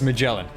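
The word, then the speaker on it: Magallan: not have an annoying voice thankfully um it's pronounced magellan they just spell it slightly off so i think with magellan i for me a big appeal of her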